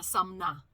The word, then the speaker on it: Sumner: Not Summer, Sumner.